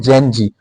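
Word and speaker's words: Gen Z: जी यानी जेड, इसका प्रोनाउंसिएशन जो है इंग्लिश में जी कहते हैं, तो इनको बोलते हैं जेन जी।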